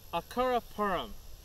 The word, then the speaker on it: Acaraparam: Acaraparam. Three syllables. Acura, think of Acura, the car. Acura. Poo, the poo emoji. Rum, a bottle of rum. Acura. Acura. Okay, the second syllable.